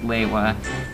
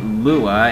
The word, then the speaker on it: Lewa: I got mine with my Onua, and for some reason his name was pronounced Lewa, although in the game his name was pronounced Lua, and in the movie it was pronounced Lewa. But Lewa, Lewa, Lua, well, tomato, tomato. But I'm gonna call him Lewa because that's how they